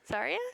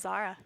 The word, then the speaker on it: Zarya: Especially with the comfortability of, what, Zara? Zarya? Is that how you pronounce it? Zarya? Zarya? Yeah. I always thought it was Zara.